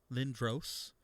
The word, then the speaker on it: Lindros: oh my camera went out oh darn uh you're actually going with eric lindros lynn dross is that how you say his name yeah oh really how do